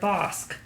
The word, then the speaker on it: Bosc: Yes, I remember because we had a long conversation about the word bosc. Yes. Which you were like, can you pronounce this word bosc?